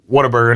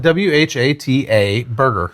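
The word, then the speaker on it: Whataburger: W H A T A Burger. So, I guess technically it is what a burger. What a burger. But if you're from here, it's water burger.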